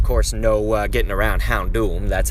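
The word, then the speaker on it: Houndoom: say hound door but i believe it's actually pronounced hound hour and of course no uh getting around hound doom that's how that one's said but yes hound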